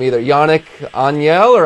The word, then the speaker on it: Agnel: for France, and I don't know how to pronounce his name either. Yannick Agnel or Agnel? Agnel, you get it right.